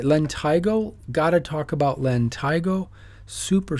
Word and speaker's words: lentigo: are all common akas it's the this is pronounced lentigo lentigo they're typically that's a perfect one they're like